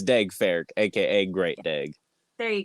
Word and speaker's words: Daeg Faerch: of exciting this is D fck which did I say your name wrong probably yeah it's D fa AKA great dig there